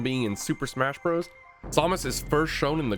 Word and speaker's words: Samus: Yes, I pronounce her name Samus. And do you know why? It's because of this guy. Samus! I know her name is technically pronounced Samus, but it's really hard to change the hardwiring in my brain after years of playing Melee.